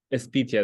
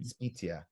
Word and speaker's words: Espitia: It's How do you spell it? How do you say your last name? Espitia. That's my mom's last name. Espitia.